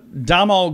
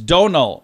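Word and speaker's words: Domhnall: um how about uh domal Gleason is Donal Gleason I don't even know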